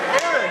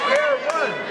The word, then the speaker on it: Aaron: They made Aaron a two-syllable word. It's just Aaron. It's not Aaron.